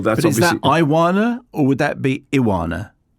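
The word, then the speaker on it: Ioana: And then I would say Iona. But then it says rhymes with iguana. Oh, well, that's but obviously. Is that Iwana or would that be Iwana?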